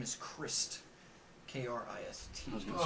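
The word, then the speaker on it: Krist: So his name is Christ. K-R-I-S-T. I was going to say Oh, it spelled with a Christ.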